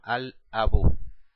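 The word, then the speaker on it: الأب: Aquí vamos a pronunciar el alef y el lam. Se escribe y se pronuncia. La primera letra, alef, abun, abun, ab, papá. Abajo, si le agregamos el artículo a la palabra ab, decimos al abu, el papá.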